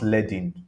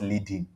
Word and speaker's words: leading: next one is leading it's pronounced leading not leading please let it so